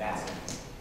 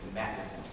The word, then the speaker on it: Matteson: That was the 19th district in Matteson, or excuse me, Matteson. You have to say it right, Matteson, Illinois.